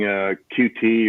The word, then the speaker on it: Qt: but i'd been using qt or cute however you want to pronounce it for quite a long